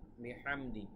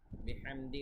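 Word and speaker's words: بِحَمْدِ: এর উচ্চারণটা ঠিক থাকবে বিহামদি এখানে হা এর উচ্চারণ খেয়াল রাখতে হবে বিহামদি রব্বিকাস্তাগফির দেখুন এখানে পাশাপাশি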